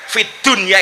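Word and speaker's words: في الدنيا: ternyata ulama-ulama kita mengajarkan Fid Dunya itu harus dibaca Idhar bukan Idam Kenapa karena urusan dunia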